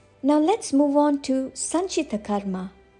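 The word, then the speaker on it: Sanchita Karma: let's move on to San Karma San Karma refers to a collection of all our past actions from our previous lives now let's focus on the pronunciation Sun like sun Chi short Chi not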